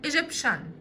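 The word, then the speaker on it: Egyptian: التي والاي والاي الثلاث حروف دول بنطقهم بصوت حرف الشين.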